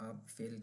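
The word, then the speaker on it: Apfel: तो एक नाउन है, इसको हम कहते हैं आप फेल। और ये एप्पल है इंग्लिश वाला, इसको हम आप फेल कहेंगे, आप फेल। ये आ है तो आ से आप फेल।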